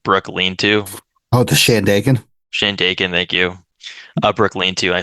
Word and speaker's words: Shandaken: to like detour to I can't scan it, Scandaken. I can't pronounce it. Scandaken Brook Lean-To. Oh, the Shandaken. Shandaken, thank you.